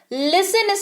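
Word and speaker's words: listen: Khelo play in play लिस्ट इन इलायची APN लिसन कुर्ते में थी तो जरूर लिखा हुआ है पर उच्चारण में नहीं आएगा इसको पढेंगे लिस्ट इसको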